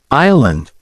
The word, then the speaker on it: island: B wrist silent W Island silent s practice saying these words